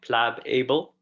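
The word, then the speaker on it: Plabable: called plable okay it's it's pronounced like plab able aplab able that is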